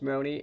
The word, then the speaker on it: Maroney: My last name's Maroney, and it's O-N-E is how it pronounces. So if you think I haven't pronounced like moron 1,000 times, you'd be wrong.